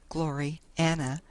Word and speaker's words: Gloriana: Gloriana, pronounced as two words, Glory Anna, being the work of her father, who also named it, was simply a cylindrical roll of canvas wagon covering.